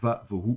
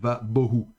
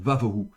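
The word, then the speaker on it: וָבֹהוּ: et donc devient fricatif, et donc on prononcera va vohu, et non pas va bohu. Donc va vohu.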